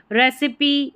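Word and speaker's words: recipe: रेसिपी, ई का उच्चारण।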